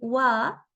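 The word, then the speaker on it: は: este de aquí y solamente en este tipo de situación lo vamos a pronunciar como wa wa pero su transcripción en Romi es h con la a m poco a poco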